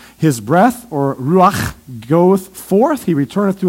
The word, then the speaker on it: ruach: In fact, in the Hebrew here, the word spirit is the word ruach.